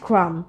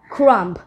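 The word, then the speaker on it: crumb: তখন আমরা কি বলি bread ক্রাম not bread ক্রাম্প তাহলে ক্রাম্প না বলে কি বলতে হবে ক্রাম কারণ শেষের যে বিটা আছে এটা কিন্তু সাইলেন্ট এরপর আমরা পাই ডেভড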